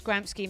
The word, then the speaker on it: Gramsci: Do you know where you pronounce Gramsci like that in England? Kairos is coming at me. Gramsci. No, it's Gramsci, mate.